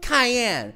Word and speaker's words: Cayenne: my apologies Miss uh Cayenne pronounced like the pepper okay let me just